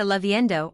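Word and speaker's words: lloviendo: Esta leavendo or lou. Yo means to rain. The double LL is pronounced like a Y in most dialects.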